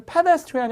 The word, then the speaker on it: pedestrian: 그래서 이 억양이나 강세가 되게 중요한데 이게 발음이 pedestrian이 아니라 pedestrian.